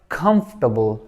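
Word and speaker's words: comfortable: बाद है कंफ कंफ इसमें देखें इस ओ को भी नहीं पढ़ेंगे इस ए को भी नहीं पढ़ेंगे तो ये क्या बन जाएगा कंफर्टेबल कंफर्टेबल कंफर्टेबल नहीं कंफर्टेबल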